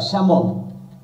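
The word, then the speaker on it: salmon: মাছ এর singular plural হতা শ্যামন যদিও স্যালমন লেখা আছে এল এর উচ্চারণ হয় না সিরিজ একবচন যা বহুবচন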